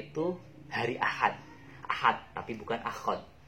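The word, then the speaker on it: أخذ: Akhad. Mungkin klunya itu hari Ahad, tapi bukan akhad. Nah, bacanya itu akhad, bukan ahad. Maaf kebalik tadi. Jadi bacanya itu akhad. Ingat-ingatnya dengan nama hari, yaitu hari Ahad.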